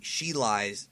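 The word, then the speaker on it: Cheelai: tries to blow up she lays or she she lies she lie that's how you say her name he tries to blow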